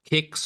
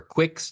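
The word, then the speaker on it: Qix: arcades in the 80s called Kicks or Quicks, depending on how you want to pronounce it, Oh, it spells with Q-I-Ns, a okay?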